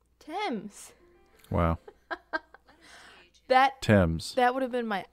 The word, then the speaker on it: Thames: It says how to pronounce Thames. Wow. Thames.